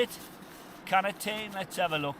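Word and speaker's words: Katadyn: That there is my K-Dine water filter. Is it K-Dine? Is that how you say it? Canatine? Let's have a look. It's one of them, is it K-Dine B3? K-Dine, yeah, or Catadine B3, water filter, a litre, black in colour, brilliant.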